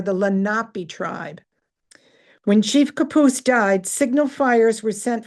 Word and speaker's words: Capouse: Now, but he is pronounced Capouse, and we say Capow Street in Scranton, so it got lost in translation.